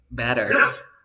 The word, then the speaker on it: better: one right and then we have the T between two vowel sounds you pronounce like or better better did you understand yes